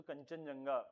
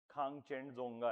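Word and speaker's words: Kangchenjunga: जी एन एन अच्छा वैसे तो कंचनजंगा जो हम पढ़ते हैं ना खांग चैन जोंगा है वो खांग चैन जोंगा ठीक है कोई बात नहीं होने दो जो हो रहा है।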